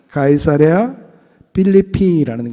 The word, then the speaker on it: 카이사레아 필리피: 원래 의 표준 명칭 은 " 카이사레아 필리피 " 입니다 . 라틴어식 발음 으로 바뀌면서 , 필리피 에 있는 카이사르 의 도시 라고 설명 할 수 있게 되었습니다 .